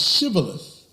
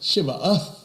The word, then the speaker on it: shibboleth: And because they could not pronounce shibboleth, they pronounced shibaoth.